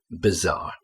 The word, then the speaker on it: bizarre: BB bizarre. Okay, it's spelled b I but we pronounce it bb bizarre.